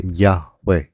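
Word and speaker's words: Yahweh: a it's really more like a yun kaya Yahwe yun ang naging pronunciat Hindi Jehova.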